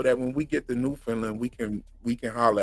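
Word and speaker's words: Newfoundland: they both live in New Finland yeah they're both from New Finland I'm trying to pronounce it correctly people have told me that it's it's not New Finland it's newfinland Newland yeah that's how and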